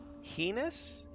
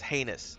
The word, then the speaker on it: heinous: Heenous. I've always pronounced it heinous. He heenus. I can't I can't handle that. It's heinous, sir.